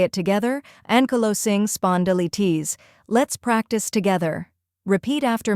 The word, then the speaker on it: Ankylosing Spondylitis: The correct pronunciation is ankylosing spondylitis. Let's break it down step by step. First part, ankylosing, not anky, but anku, and emphasize the low.